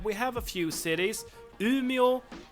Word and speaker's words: Umeå: And the last thing I want to say is that we have a few cities Umeå Luleå Skellefteå and these are pronounced like this but I mean you have